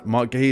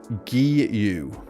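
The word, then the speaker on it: Marc Guiu: Mark Gay is pronounced Mark Guu.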